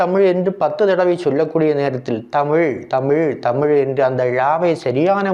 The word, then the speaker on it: தமிழ்: தமிழ் வழி பழம் மொழி ழ ழ என்று உச்சரிக்க வேண்டும் பலரும் லா லா என்று உச்சரிக்கின்றார்கள் அப்படி உச்சரிக்கக்கூடாது லா என்று தான் உச்சரிக்க